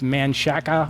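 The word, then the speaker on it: Manchaca: Like, are you familiar with Manshaka, or they call it Manshak, but it's spelled Manshaka?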